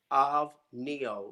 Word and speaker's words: OVNIO: yes, How do you pronounce it properly? OVNIO, like the singer OVNIO.